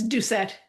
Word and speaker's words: Doucette: I forgot to ask you how I pronounce your last name. It's Ducet. Ducet.